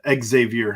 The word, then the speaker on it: Xavier: uh Xavier Henderson uh Xavier Henderson we'll make sure to pronounce both the X and the Z as he spells it not as the muskies do uh but he's going